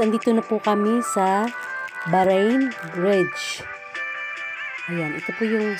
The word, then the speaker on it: Bahrain: Bahrain ang bigkas ko kasi ito ay galing sa word na bahar.